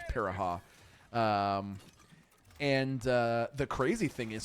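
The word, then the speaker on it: Pirahã: It's pronounced Piraha. I think you might actually be right, Slow Momo. I think it is pronounced Piraha.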